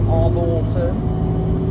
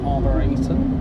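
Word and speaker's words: arboretum: I thought it was called Arborton, but it's actually called Arborator.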